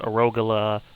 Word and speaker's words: Arogala: Striker, Feroxenzai, Zephyr Rise, Arogala, which is pronounced Arogala, like the vegetable, because Saiyans are named after vegetables, apparently.